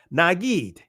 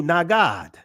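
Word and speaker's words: נגיד: Now, in the Israeli, it's pronounced Nagid. The ancient Hebrew, Nagad.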